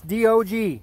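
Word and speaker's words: Diogi: That's D-O-G, spelled D-I-O-G-I, pronounced like dog, D-O-G.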